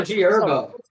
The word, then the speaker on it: G Herbo: It's also G Herbo. The H What is is going silent, on? bro. What? The H is silent. It's G Herbo.